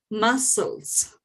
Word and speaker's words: muscles: Forget that the C is at the middle of the word. Just said muscles.